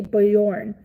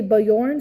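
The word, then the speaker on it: Björn: It's a mix between Bjour and Born. But I found out that English speakers say Bjorn. Okay. So you say Bayorn. So the J is pronounced. So your J is pronounced Y.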